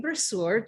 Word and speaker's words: Bruschere: sitting with me right now today, Miss Lolly Bruschere.